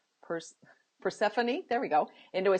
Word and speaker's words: Persephone: nymph was transformed by Queen purr I always mispronounces purse Persephone there we go into a sweet smelling mint